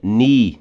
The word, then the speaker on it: knee: A primeira da última linha, knee. Lembra que não leu o K de N? Knee.